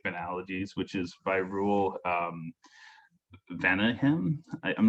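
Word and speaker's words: Vaneigem: Does it have that French sort of Venehem, or? Yeah, I think it's Venegum. Venegum. Okay. Yeah. It's, I mean, it's kind of Dutch, Belgium.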